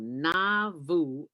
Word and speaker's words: Nauvoo: south of chicago called na vu illinois am i pronouncing that right dwayne yeah you're pronouncing it right i never knew it